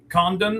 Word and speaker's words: Condon: Now, you've already said the first one, Ethan Holidayiday, uh Charlie Condan, I believe is how you say his last name. C O N D O N.